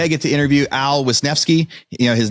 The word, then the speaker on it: Wisnefske: today I get to interview Al wisnevsky you know his name looks scary but I was able to pronounce it first try he's with land and